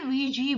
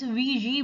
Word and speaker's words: Ouija: इसकी जो correct pronunciation होता है वो होती है Ouija board. Actually, it's a French word. It's Ouija board, and they kept them busy with their questions.